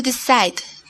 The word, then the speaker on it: decide: Hay una E muda al fin de la palabra. No la pronuncias. Así que el sonido al fin de la palabra es D.